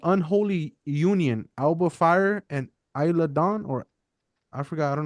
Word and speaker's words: Isla Dawn: Alba Fire and Isla Dawn, or I forgot. I don't know how to say it. Yeah, Isla Dawn.